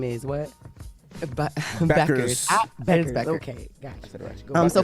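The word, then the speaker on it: Bueckers: said BQ. It's Beckers.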